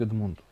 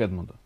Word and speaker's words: Эдмунд: Макс спрашивает, можно ли каверзный вопрос к Эдмунду? К Эдмунду. Завсегда. Вот все говорят Эдмунд, а правильно говорить Эдмунд.